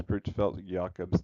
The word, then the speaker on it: Creutzfeldt-Jakob: So how you say it is Creutzfeldt-Jakob's disease.